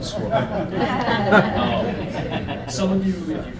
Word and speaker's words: Sqrrl: products for squirrel uh we're startups so we couldn't afford the vowels but that's pronounced squirrel some of you if